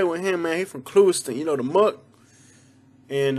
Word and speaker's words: Clewiston: not pronounce this one the proper way to pronounce this one is clewiston but the locals say klusten i'm from klusten dal